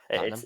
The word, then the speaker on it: Tottenham: I think I have to blur it together to make it faster to actually sound like Tottenham. Tottenham.